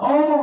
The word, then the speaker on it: ओम: ओम है, आ जोर मो जोर ऊ, तो ओम हो जाता है।